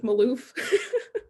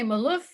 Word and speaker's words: Maloof: michaela it's pronounced like maloof maloof i was going to say malouf but i guess it's maloof so thank you so